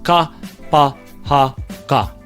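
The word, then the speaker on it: kapa haka: Kapahaka. So if you can focus more on the vowel sounds being consistent, I think you can really start to be able to pull that word together and say it properly.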